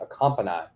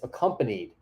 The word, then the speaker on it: accompanied: me for the first time ever that it's pronounced that way and I realized that my entire life I've been saying a company I companyed him to the store I've always